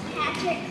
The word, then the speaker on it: Patrick: with the fact that it was pronounced Patrick instead of Patrick given that it's spelled the way that it is um instead of using like a CH after the T would be Patrick um anyways it's it